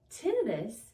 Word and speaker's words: tinnitus: Tinnitus or tinnitus. It's a little like tomato. The layman's term is tinnitus, while most professionals will call it tinnitus.